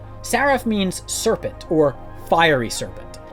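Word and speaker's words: שרף: and comes from the hebrew word seraph which i'm pronouncing from the hebrew letters you can see right here saraf means serpent or fiery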